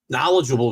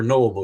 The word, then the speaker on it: knowledgeable: Knowledgeable viewers. We do have very knowledgeable viewers, or knowable viewers. Knowable. The K is silent, Paul, so it's okay to leave it off.